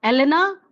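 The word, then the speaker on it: Елена: ये E जो है वह रशियन जो है प्रोनाउंसिएशन है, एलेना रशियन प्रोनाउंसिएशन है।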